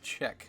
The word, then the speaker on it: Czech: say this word and it is check kind of like saying to check for checkbook or balancing a check you know or to keep you in check however you want to